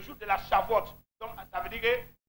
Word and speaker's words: Shavuot: Et ça s'écrit C-H-A-V-O-U-O-T. Alléluia. Le jour de la Shavuot.